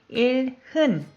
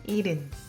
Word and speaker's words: 일흔: When you look at how it's written, 일흔, but H is very soft. Almost you don't hear it. So it sounds more like 일흔.